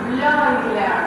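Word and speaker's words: Bleuler: En ese artículo dice que un señor llamado Euler Bloiler se pronuncia. Este es como Freud. Freud tiene también la EU se pronuncia hoy, Freud, igual en Bloiler.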